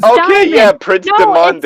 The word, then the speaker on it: Demande: I was like, Diamond! Who the fuck is Okay, Diamond? yeah, Prince No, Demande.